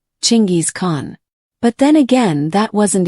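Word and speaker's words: Chinggis Khan: If you're trying to be historically accurate, that's the name you should be using, Chingis Khan.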